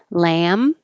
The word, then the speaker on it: lamb: you tried the curried lamb lamb and lamp even though we don't say the b we don't say the